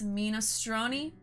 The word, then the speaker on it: minestrone: a soup too what it's it's minostroni okay i have to say it like that i'm sorry it says mime strong i'm like minecraft minestone ministroni okay sorry god i had to get my 25 italian out for that i have